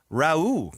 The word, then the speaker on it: Rauh: How do you pronounce this, Christian? Rauh.